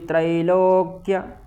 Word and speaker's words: त्रैलोक्य: मिच्छामि तन मधुसूदन अप त्रैलोक्य त्रैलोक्य य त्र है उसका ई का उच्चारण करना त्र त्र नहीं करना है त्रिलोक राज्यस त्रैलोक्य राजस्य